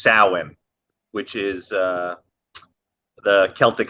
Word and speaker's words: Samhain: of uh it's written samhain but it's actually pronounced samhain which is uh the celtic holiday with correlates